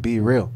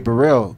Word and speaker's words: Bereal: me like I like my last name is Burell and it's spelled like be real yeah you know what